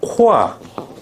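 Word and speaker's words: corps: 붙어 S 붙어 그때요 발음은 어떻게 한다 코스가 아니라 코아 코아 코 즉 뭐가 발음이 안 돼도 발음 안 되고 S 발음 돼 안 돼 안 돼 둘 다 묵음이야 희한하지 어떻게 이걸 코어라고 발음하니 코 코아가 맞아 그래서 이거는 뭐냐면은 바디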